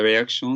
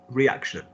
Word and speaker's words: réaction: La réaction de sa mère. Pause. I've given you this correction before. How do you say reaction? Is it reaction? Réaction.